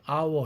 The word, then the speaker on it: hour: about half 여기까지는 링킹이 안 일어나는데 on hour 할 때 on 모음으로 시작했죠. 그럼 앞에 있는 f가 끌어잡아 당겨서 링크 되죠. 그런데 on이라는 단어는 hour가 H가 소리 안 나는 묵음이지 않습니까?